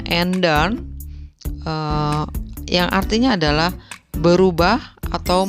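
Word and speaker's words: ändern: Nah, kenapa bacanya enden? Kita di materi nomor 1 sudah sudah belajar, yaitu mengenai A.2. A.2 adalah A umlaut, maka kita harus membacanya enden, yang artinya adalah berubah atau merubah.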